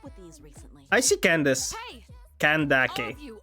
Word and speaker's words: Candace: It's clearly Kandake. Kandake. Yeah, I think. Which is real weird. The last C is totally pronounced as K in most other languages, if not all of them. But I guess in English it is Candace. It's the obvious pronunciation when you why it's not go. It's obvious pronunciation when you see this name. Well, now we know. It's fine to call her Candace.